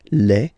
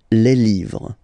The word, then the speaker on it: les: the plural form okay Le and then same rule you just write leave and then you put S at the end but then you don't pronounce it Le so it's quite interesting